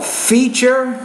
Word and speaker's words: feature: you knew this but a tu in the middle of a word means a C8 sound so you say Feature Feature and when Su is